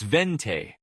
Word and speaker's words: venti: For venti, it's vente. Don't overthink the accent.